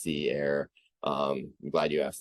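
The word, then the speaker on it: Sea Aire: Community again it is Sea Air so it's uh spelled s-e-a-i-r-e and it's pronounced Sea Air um I'm glad you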